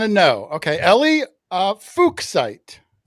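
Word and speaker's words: fuchsite: Now, how do you pronounce that without It's pronounced fuksite.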